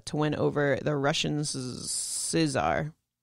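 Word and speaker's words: tsar: win over the russians scissor yeah i think that's how you pronounce it no c silency the russians are see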